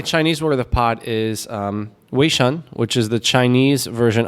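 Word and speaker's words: 微信: no I my Chinese where the pot is we shun which is the chinese version of WeChat so nothing that's how they say it we shun uh-huh yeah all right let me let me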